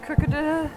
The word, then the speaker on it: Crocodile: This is Crocodile, is how we say his name.